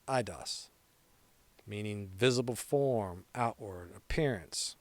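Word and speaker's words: εἶδος: Pronounced eidos, meaning visible form, outward, appearance, what is seen externally.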